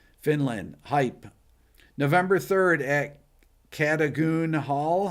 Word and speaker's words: Cadogan Hall: November 3rd at Cadogan Hall.